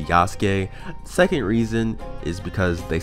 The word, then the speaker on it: Yasuke: are weird that's one reason i'm gonna say yasuke second reason is because they say yasuke in the english dub and i know using